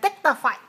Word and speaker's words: dignified: The vowel is too short for the first syllable, so in order to make it longer, how should I say it? Dignified.